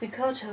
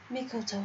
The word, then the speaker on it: Mikoto: I'm calm down Miss Makoto will be just fine calm down Miss Mikoto will be just fine I said it wrong him being next to